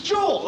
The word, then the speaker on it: Joel: It's Joel, okay? It rhymes with bull.